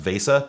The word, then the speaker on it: VESA: This program predates the Visa BIOS extensions. Some people keep telling me it's pronounced Vesa, but that sounds awful, so I'm not saying it.